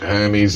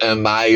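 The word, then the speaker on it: Hermès: Oh, pronounce it Hermes. Everyone else calls it Hermes or some bloody thing like that.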